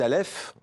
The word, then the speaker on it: Aleph: aux éditions l'antilope alors c'est l'histoire d' aleph on le prononce bien comme ça pour le prénom et anna